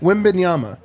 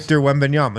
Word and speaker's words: Wembanyama: So I want to get this right because I don't like people mispronouncing it. How do you say it? Wembanyama. Wembanyama. What? How am I wrong on this? Victor Wembanyama.